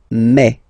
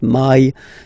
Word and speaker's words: mai: In French, remember when you combine this a and then e vowels, you get the sound e. So really open e, okay, and then you pronounce it me. Okay, so don't pronounce e. Don't try to pronounce it. No, it's me. So it's not my, it's me. Okay.